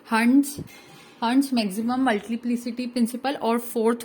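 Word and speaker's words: Hund: और कुछ लोग इसको हुंड कहते हैं, हुंड नहीं कहते, इसको हंट्स कहते हैं, तो प्लीज उसको सही प्रोनाउंस कीजिएगा।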